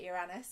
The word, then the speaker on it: Uranus: Aquarius is also ruled by Uranus, commonly mispronounced in many ways, but Uranus, I'm going to go with my Californian training on that.